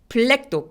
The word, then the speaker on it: black: black도 black 아니고 black라고 발음하기. 그래서 B하고 L이 한꺼번에 발음돼야 돼요. black 아니고 black 이렇게요. B가 L에 얹어갑니다.